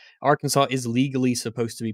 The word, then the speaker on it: Arkansas: should be pronounced and while it's not technically illegal or punishable to say it wrong with a hard s at the end of the state's name arkansas is legally supposed to be pronounced arkansas uh it looks like